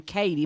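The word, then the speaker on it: Cotie: At one point, the score was 70-58, but Ohio State center, this girl, I think she pronounces her name Katie, but it's spelled Cody.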